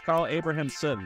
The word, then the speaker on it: Carl Abrahamsson: we got Carl I'm going to say your name wrong it's Carl abrahamson did I do it right hey it right